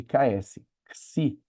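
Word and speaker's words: ξῖ: é o si, que equivale à letra X do nosso alfabeto, mas não como em xerox, no primeiro X de xerox, mas como o segundo X da palavra xerox, que ele equivale a um X quando ele tem som de ks, igual em tórax, igual em taxi, é esse som de ksi.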